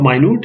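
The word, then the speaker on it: minute: is actually small small note the pronunciation of minut in the sense it is like my mood right my new militia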